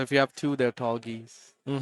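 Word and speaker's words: Tallgeese: I used to pronounce it tall, but it's tall geese. Definitely. Tall geese. I say tall goose cuz geese is plural.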